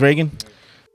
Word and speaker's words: Reagan: I always say Reagan. But Reagan? yeah, it is Reagan. I'm speaking to the person inside of Reagan now. And I hear people say Regan, so I'm like, am I saying it wrong? They are wrong. Okay, then I'm right then.